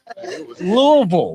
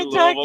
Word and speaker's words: Louisville: And how do you say it? Do you say it Louisville or Louisville? The way one I is. say Louisville. Louisville. Yeah. See, they want it to be 2 syllables.